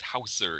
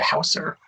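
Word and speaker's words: Hauser: you say it like if we were saying Wings Houser before maybe now we can change it to Houser right right exactly we were saying it wrong the whole time and that was the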